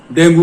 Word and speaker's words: dengue: जोर देकर कि उसको डेंगू हो गया। डेंगू कोई वर्ड नहीं है, ये एक सवाहिली लैंग्वेज का वर्ड है। या तो इसको डेंगे कहेंगे या डेंगी कहेंगे, इसके दो प्रोनाउंसिएशन है, डेंगे या डेंगी।